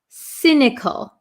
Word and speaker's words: cynical: um cynical cynical um it has a c y s this is not a hard C but a soft C it sounds like an S cynical cynical so if somebody